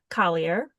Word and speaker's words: Collier: by the beautiful Collier. And I forgot to double check your last name. Did I say it right? Collier? Yeah, you did.